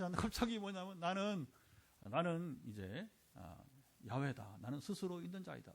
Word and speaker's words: 야훼: 원래 히브리 발음은 여호와가 아니에요. 여호와는 이게 영어가 그러니까 여호와를 영어로 저호바 이렇게 저호바. 그러니까 이제 한국어로 옛날에 어른들이 이제 우리 옛 어른들이 영어를 많이 의존하니까 히브리를 잘 모르니까 그만 야훼가 아니라 그냥 여호와가 이렇게 저호바 하면 잘 발음도 힘들어요. 한국 사람들 그죠? 그러니까 한국식으로 쉽게 발음하기 위해서 엉뚱하게 이 한국 사람만 쓰는 여호와예요. 그러면 이름 없어. 그게 번역이 됐으니까 그렇게 부득이 쓰는 거지. 원래는 야훼.